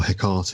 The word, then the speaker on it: Hecate: My personal thoughts about sort of things that the Friends of Hecate or Hecate, as Charles always likes to call them, which is a mispronunciation.